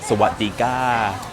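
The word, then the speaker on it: สวัสดีค่ะ: Sawadika. By the way, that's how you say hello and greet people here in Thailand. It's Sawadika. That's how you say it.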